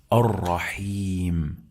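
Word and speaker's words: الرحيم: However, we have lam here. It is lam shamsiyya. We don't pronounce it. Remember, don't forget.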